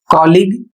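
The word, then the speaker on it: colleague: अगला शब्द है सी O double L ई ए जी यू ई कोलीग।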